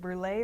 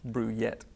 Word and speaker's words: Brouillette: And is it brulee or Brouillette? Brouillette. Oh, we've been saying it wrong all this Everybody time.